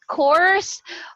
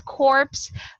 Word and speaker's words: corps: Course, we don't actually pronounce the P because if you're talking to a client and you pronounce it as corpse, patay na sila ha.